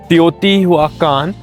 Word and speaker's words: Teotihuacán: So guys, after traveling around 1.5 hours, हम लोग पहुंच चुके हैं टियोटिवाकान। टियोटिवाकान ऐसे ही प्रोनाउंस करते हैं, थोड़ा टिपिकल है।